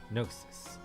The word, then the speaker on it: gnosis: Gnosis. Also, the rumor goes. Oh god, Tio. グノーシス。 Wait, why are you pronouncing the G, Lloyd? The G is silent. Gnosis!